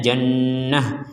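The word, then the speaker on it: جنة: ya ini Ashabul Jannah ini kita bacanya Jannah nah ini juga sama as jadi dibaca sebagai huruf Kalau berhenti menjadi huruf ha kalau disambung akan menjadi huruf ta sebagaimana semula misalkan kita gak kuat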